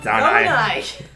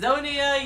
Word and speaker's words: Zonai: Zonai! Zelda said it out loud. You said Zonia, you said Zonian, you just said Zodiac.